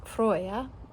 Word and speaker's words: Froya: And of course you're familiar with the goddess Freya, but I did differentiate it by keeping her name, the character's name, pronounced as Froya, and her namesake, the goddess Freya.